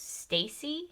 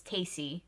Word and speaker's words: Tacy: name of the movie i always thought lucille ball's character's name in this movie was stacy but it's it's tasty apparently so i've just been